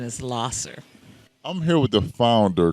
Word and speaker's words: Lahser: am I saying that right should I say Lasher ler the correct pronunciation is ler I'm here with the founder Cassandra Thomas of